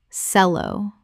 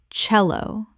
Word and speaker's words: cello: Sello. Correct pronunciation. Cello. The c e makes a ch sound. The instrument name comes from Italian.